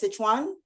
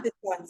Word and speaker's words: Sichuan: way to say shishan is you say it Sichuan Chan yeah sichan sichan s i c h u a an I've never pronounced it correctly in my life and now